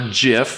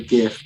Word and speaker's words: GIF: british drivers i see okay um gif or jiff how do you pronounce it i'd say gif but i know i'm probably wrong no you're